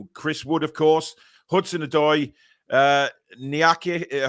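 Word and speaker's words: Niakhaté: Turner, Sangare, Gibbs-White, Chris Wood, of course, Hudson-Odoi, Niake. How do you say that, Billy? Nikate, there you go.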